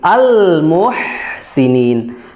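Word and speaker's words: المحسنين: bahwa hurufnya najzi najzi almuhsinin Muhsin ha jadi bukan ho bukan Ha jadi jangan sampai dibacanya najzil Muhsinin Muhsinin ya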